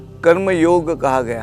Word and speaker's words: योग: मैं तो कहता हूं वह शब्द योग है और वैसे ही कहना होगा योगा कहने से कुछ फर्क नहीं पड़ेगा और योग कहने से फर्क पड़ेगा ऐसे सोचो मूल संस्कृत शब्द है वैसा उच्चारण हमने ही करना है बाकी दुनिया योगा योगा करके उस सबका भ्रंश कर रही है छोड़ दो कहने का